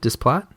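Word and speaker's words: Desplat: I can never say his name. Displat. I think it's Displat. Yeah, Alexandra Displat. I think it's just Alexander.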